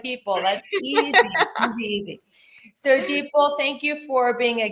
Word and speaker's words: Dipal: I've been saying your name wrong. I've been calling you Dipal. It's Dipal like people.